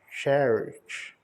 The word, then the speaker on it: cherish: O verbo valorizar é cherish. O C e o H tem o som de TX. O RI tem o som de RI mesmo. E o SH tem o som de TX.